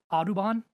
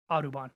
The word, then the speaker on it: Audubon: designed by a Henry adubon I hope I'm pronouncing that right it's AUD u n adubon I don't know so